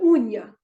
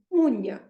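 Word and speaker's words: unha: It has to be NH, for example. Let's take NH. Okay. The word uña, the nail. The nail is uña.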